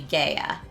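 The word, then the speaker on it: Gaea: G A E A if you did the classical Latin pronunciation would be I guess that would Roman Latin pronunciation would be gaya. Classical Latin pronunciation would be Gaia.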